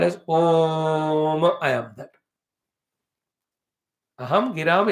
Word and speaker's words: Om: It has got 3 syllables, A and U and Ma.